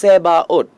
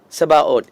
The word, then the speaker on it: Sabaoth: In Latin, they have written Sebaot. Latin மொழியில் பார்க்கும் பொழுது செபாஓத் என்று சொல்லப்படுகிறது. In Hebrew, எபிரேய மொழியில் they have written, you have to make that sound T. That means Sebaot.